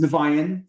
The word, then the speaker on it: Niviane: A lot of people say Niviane or Niviane, or it's pronounced Niviane.